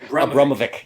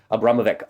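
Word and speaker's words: Abramović: to Marina Abra I can't say her name Abramovic yes Abramovic um the other article in the times uh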